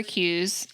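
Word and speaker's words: KUE: Okay, tip number 4 is to save for Q's in each budget, and those are known, upcoming, non-monthly expenses. Yeah, so we take the silent K from known, K-U-E, known, upcoming expenses that are non-monthly, save for them in each budget, period.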